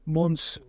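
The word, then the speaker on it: Monzù: But Monsieur, for the Italians, very hard to pronounce, it became Monzú.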